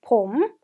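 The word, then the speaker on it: ผม: 남자인 경우에는 저는이라고 할 때 봄, 봄이라고 발음하고요.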